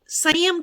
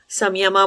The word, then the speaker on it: संयम: अभी इंग्लिश में आप देखोगे बहुत सारे लोग आपको संयमा बोलते हुए दिख जाएंगे। वो संयमा ऐसे इंग्लिश में लिखने से ऐसे स्पेलिंग हो जाती है उसकी, संयमा लिख दिया जाता है या बोल दिया जाता है। सही शब्द संयम है, ठीक है।